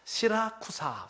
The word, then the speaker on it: 시라쿠사: 어색하죠 수라구사라는 말이 왔는데이 수라구사가 발음이 여러 발음이나요 그래서 시라쿠사 지금은 시라쿠사 이렇게 발음하기도 하고 영어로는 발음을 합니다이 수라구사라고 하는 이거는 그